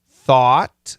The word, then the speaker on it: thought: Thought, thought. It's an AW.